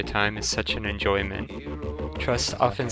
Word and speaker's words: TR/ST: TR/ST, though pronounced Trust, is another Canadian project formed by singer and musician Robert Alphonse.